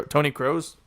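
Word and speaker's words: Kroos: one nil it's crazy crows like the bird pronounced cro Tony crows okay Tony crows it's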